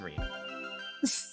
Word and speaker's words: Rin: separate from Reen, and notably, it caused me to question the pronunciation of Reen for about half a year. But that arc is finished. The character's name is Reen.